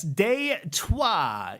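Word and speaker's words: Détroit: And yes, for those linguistically curious among us, deuah is the French spelling Detroit pronounced in the old tongue like you're swearing at your transmission.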